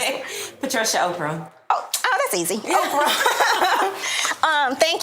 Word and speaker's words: Opurum: Can you pronounce it? Patricia Opurum.